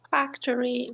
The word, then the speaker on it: factory: want you to guess where do you think the first word here factory first the first syllable yes yes okay what about the